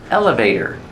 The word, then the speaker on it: elevator: Elevator. Pronunciation. Elevator. Put the stress on the first syllable. Elevator. And the T is pronounced as a fast D.